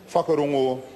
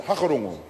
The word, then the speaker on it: whakarongo: Ngāti Hine, is that they tried to get us to stop saying the F sound. So instead a word such as whakarongo would be, wanted us to pronounce it hakarongo, to drop the W in that word.